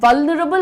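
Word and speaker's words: vulnerable: व न रबल।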